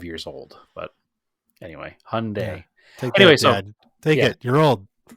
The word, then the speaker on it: Hyundai: uh we'll give him credit for that but Hyundai is how it's actually pronounced I obviously don't remember those commercials because in that era I was like 5 years old but anyway Hyundai dad take it you're old see I wasn't